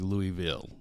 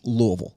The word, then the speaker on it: Louisville: to spelling yeah but but it's Louisville yeah but phonetically it's three syllables if you're from the south it's about one and a half it's about one and a half is what it is yeah